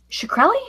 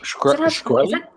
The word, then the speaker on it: Shkreli: Shkreli? Shkreli? See, I thought it was like a cross between Shrek and Shekel.